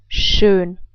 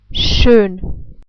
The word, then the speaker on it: schön: This letter combination is pronounced like what I showed you before. Like sh, down here. And then again, of course, the German umlaut Ö. We can't pronounce it differently because you don't have this sound. But anyway, I hope you remember how this is pronounced. Now let's try to put this all together. We would pronounce it like schön. I say it again, schön. So I hope that this